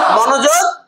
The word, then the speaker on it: মনোযোগ: মনে রাখবেন বিসর্গটা যে বর্ণের পরিবর্তে বসে সেই বর্ণের মতো উচ্চারণ হয়।